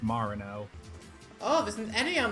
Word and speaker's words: Marino: Apparently your name's pronounced Marino.